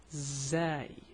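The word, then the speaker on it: زاي: The name is Zaay or Zal. Both, I mean, you can find people saying it anyway, but the pronunciation is the same.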